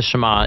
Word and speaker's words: Shema: Now, the first word of the Shema is hear or listen, which in Hebrew is pronounced Shema.